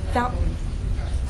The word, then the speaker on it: fountain: of a glottal stomp now hold your breath in the word and now say it faster Fountain that's the gladle stop when do you use